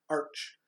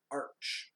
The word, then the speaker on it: Arch: It's Arch, pronounced Arch. Yeah. I think it is. Well, I think it is. Why would it be Arc?